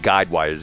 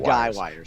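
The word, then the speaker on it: guy wires: about that later and it's not guide wires it's gu y guide gu wies I said it right the first time okay uh number three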